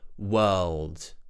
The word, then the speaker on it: world: it's the word world so firstly we have that W into an uh w w we've already talked about that today with the word work so imagine we're starting this way then we have that dark L press the tip of